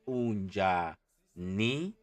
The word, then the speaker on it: unjani: And how you spell it correctly or how you pronounce it correctly is unjani, right?